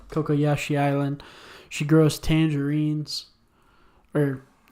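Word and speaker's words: Cocoyasi: Kokoyashi. Kokoyashi Island.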